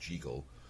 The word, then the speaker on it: Jekyll: he turns from from Jekyll, which I guess is actually supposed to be pronounced Jeegle, into Hyde, and his face